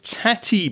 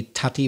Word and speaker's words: tatty: f-a-r-l and one is tati bread t a double t y which i'm guessing is another name for potato tatty you've said it the scottish way yes the scots say tati bread and in ireland or